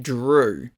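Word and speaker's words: Dru: also named Gru but the G is replaced with a d and it's pronounced Drew I have a brother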